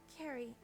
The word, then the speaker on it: Carrie: Oh, it's pronounced Carrie, like a K.